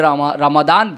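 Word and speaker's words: Ramadan: अब तरह तरह के माने हैं, लेकिन रमज़ान तो था, जिसे रमादान भी अरबी प्रोनाउंसिएशन में कहा जाता है।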